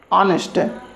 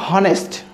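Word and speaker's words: honest: অ্যান অনেস্ট ম্যান, অনেস্ট, নট হনেস্ট, হনেস্ট না, অনেস্ট, এইচটা silent থাকছে।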